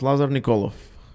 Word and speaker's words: Lazar Nikolov: It's pronounced Lazar Nikolov, not Lazar or Laser, although Laser sounds cool.